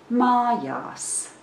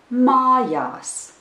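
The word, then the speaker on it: mājas: that last word is Maya's the first syllable is stressed and the second syllable is unstressed and I will pronounce the word again Maya's now let's pronounce it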